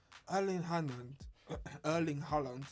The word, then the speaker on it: Erling Haaland: Erling Haaland, to say it correctly.